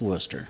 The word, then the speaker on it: Wooster: So is it Worcester or Wooster? It's Worcester. Okay.